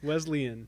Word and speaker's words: Wesleyan: yeah this is is wesleyan did i say it right quote well yeah you didn't but you did you you know you were close you're better west wesleyan wesleyan wesleyan yes leslie yes wesleyan